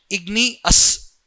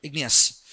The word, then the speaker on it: igneous: Remember the pronunciation igneous. Okay, igni and us. You have to remember igneous.